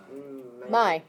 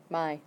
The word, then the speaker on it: Mai: Mai. Yep. So just like it's mine. Mai.